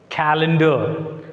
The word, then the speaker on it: calendar: Calendar. So it is purely a noun, so we can put the stress mark on C.